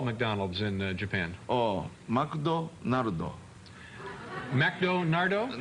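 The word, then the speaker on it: マクドナルド: Oh, McDonaldo.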